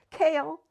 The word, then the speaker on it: Kale: Cale, pronounced Cale, yet nothing like the vegetable, has coffee-colored eyes and smooth maple skin.